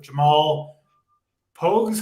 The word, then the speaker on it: Pogues: Obviously not as impressive on this particular card, but Jamal Pogues, how do you say it, title?